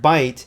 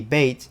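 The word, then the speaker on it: بيت: for lebanese for instance the word bite meaning house also the same word in hebrew by the way in levantine arabic would be bait with the omission of the diphthong this is also common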